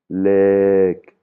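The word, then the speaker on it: เลข: Là, par exemple, le numéro, c'est une voyelle longue lek hein, lek Là, on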